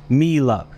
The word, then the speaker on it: Miele: where I fix this I believe it's pronounced me love here's the thing about